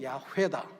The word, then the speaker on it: 야훼: 할 수가 없는데 구약을 전공하신 분들이 그래도 가장 가까운 발음은 야훼다, 이제 이렇게 알려준 겁니다.